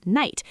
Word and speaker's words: knight: So the word night, K-N-I-G-H-T, was once pronounced with every single one of those letters. The K was spoken, the G-H was a sound that no longer exists in modern English. Today, we say just night, but the spelling stayed